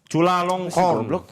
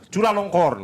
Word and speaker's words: Chulalongkorn: Jadi yang nama rajanya ini adalah Raja Siam atau Raja anjing bacanya gimana? Chulalongkorn. Chulalongkorn.